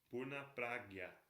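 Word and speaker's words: Pūrṇa Prajña: Está aí no final do verso 1, que está o Purna Pragya. Esse J, N com tio e A se fala Gya.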